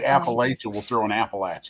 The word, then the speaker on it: Appalachia: A lot of people say Appalachia, and down home they'll look at you and say, it's Appalachia. Like you say Appalachia, we'll throw an apple at you.